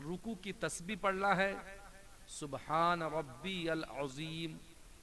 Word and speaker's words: سبحان ربی العظیم: صحیح نہیں ہوتی ہے۔ تو اب جس طرح سے ہم نے کہا سبحان ربی العظیم، زوا پڑھا ہے میں نے، تو زوا کی